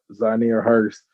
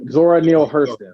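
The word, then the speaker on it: Zora Neale Hurston: these are theirs uh zanir hurst um i think i said her name wrong uh zora neal hurston sorry there you go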